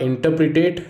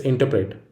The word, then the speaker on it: interpret: It is not interpretate, it's interpret. This error results from back formation of interpretate from interpretation, but back formation isn't needed.